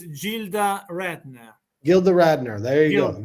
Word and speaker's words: Gilda Radner: Wilder wife a fan in the chat says Gilda Radner Gilda Radner there you go you are correct yes you I gildner Gilda is the right pronunciation because in Italy when you put G